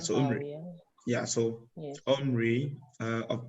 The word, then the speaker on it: Omri: The Omri or Omri. Papa, I don't know how to pronounce it. Like Omari. O-M-R-I. In Africa, it's Omari. Omari. Because there are consonants and the vowel is not there.